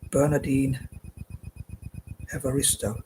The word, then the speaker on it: Bernardine Evaristo: But moving on, the second writer I'm going to cover is, the second writer I'm mentioning is Bernardine Evaristo. Again, I pronounced that correctly.